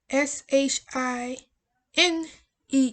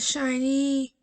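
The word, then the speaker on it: SHINee: it out for you s h i n e e shine the other is your shine it's not shiny it shined period and since um kim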